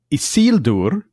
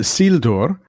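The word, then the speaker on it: Isildur: So, he's just isild. It's not isild, it's a sildor.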